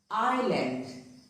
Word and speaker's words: island: Island. It is not island, but it is island.